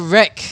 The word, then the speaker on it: Wraek: pronounce that name yeah it's called wreck wreck-it ralph that's it right yeah we really like